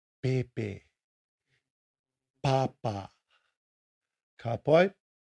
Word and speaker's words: pepe: The P is pronounced with a slightly softer tone than the English P, as in pepe, pepe, papa.